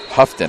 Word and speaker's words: Houghton: Houghton. I've been saying her name wrong the whole time.